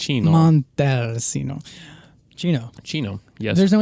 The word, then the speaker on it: Montalcino: Casalino Brunello di Montalcino. Montalcino. Chino. Yes. There's no H. There is no H, but the C's in Italian are pronounced like a CH when it's just a singular C.